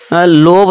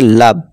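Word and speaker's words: love: देखिए दोस्तों फिर से एक्सेप्शन है इसे हम लोभ नहीं पढ़ेंगे लोभ नहीं पढ़ेंगे यहां क्या है छोटा आ का साउंड देगा ठीक है दोस्तों वो हमारा है इसे हम पढ़ेंगे लब ठीक है दोस्तों इस तरह इसे हम क्या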